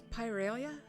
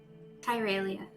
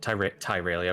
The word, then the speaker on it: Tyralia: Rowan, did you say her name was Pyralia? Tyralia, I believe. Pyralia. That's right, Tyralia with the T.